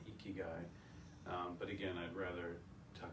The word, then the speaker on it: Ikigai: It's Ikigai.